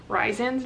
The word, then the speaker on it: Rhysand: I found out I was pronouncing Rhysand's name wrong. It's Rhysand, which I feel like that's a really ugly way to pronounce his name. I prefer Rhysand, so I'm gonna stick with that.